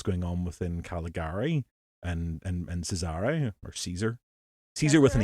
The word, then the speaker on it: Cesare: Well, it's an Italian name, and as far as I'm aware, it's pronounced Cesare.